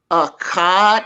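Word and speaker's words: אחד: A, ka, da. Right. Absolutely right.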